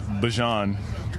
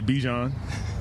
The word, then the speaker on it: Bijan: How you pronounce my name is Bijan. For everybody that's out there, I know a lot of people say Bijan, but it's Bijan. It's Bijan. Yeah. So Bijan is the correct pronunciation.